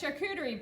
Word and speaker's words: charcuterie: Now, your current, and the reason that you're here is because of these fabulous charcuterie boards, which I finally can say. So hint, it's like shark, right? Like that, yeah. Like shark.